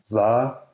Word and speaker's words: Vare: The letter V is also pronounced as an approximant, not usually a fricative. The. For example, Vare.